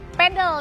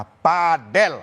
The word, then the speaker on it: padel: Olahraga pedel ini tengah digandrungi oleh banyak kalangan padel atau pedel ya bacanya. Dan saya mendapat informasi terbaru yang benar adalah padel.